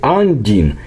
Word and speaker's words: Undine: The Undine, well, the right pronunciation is the Undine, carved from a block, was thrown right under the sea beach by the waves.